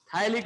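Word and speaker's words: phthalic: थायलिक acid, P silent रहेगा इसमें, थायलिक acid.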